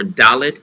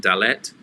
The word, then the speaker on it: dalet: name for the letters if it's two syllables lean on the first syllable as in gimel versus gimel or dalit instead of saying dalet so alef one syllable hey one syllable but where there's two syllables lean on the first syllable for the accent okay we're ready one